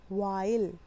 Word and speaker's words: while: और E यहाँ पे होगा साइलेंट. E कैसा होगा यहाँ पे? साइलेंट. तो व ई ल, वाइल. ठीक है?